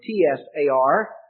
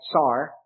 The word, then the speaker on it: czar: in in english though what they said the way they said it was more like tsar but the point is